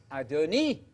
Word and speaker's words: Adonai: One God, one exalted Adonai. That's what Sarah calls Abraham. Adonai. That's what Abigail calls David. Got it? That's the non-deity title. Adonai, Adonai, Adonai. You know Adonai. It rhymes with El Shaddai, El Shad.